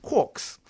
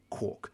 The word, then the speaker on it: quark: still be pronounced quark, even though it looks like it's meant to rhyme with the word mark.